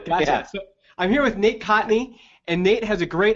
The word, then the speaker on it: Kontny: it's like the uh it's like the first n is silent cotney yeah yeah k o